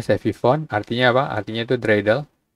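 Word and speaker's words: סביבון: Sevifone. Ini bacanya Sevifone, artinya apa?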